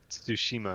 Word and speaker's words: Tsushima: Tsushima. Like Tsushima. The T and make the T and the S sound together, like Tsu.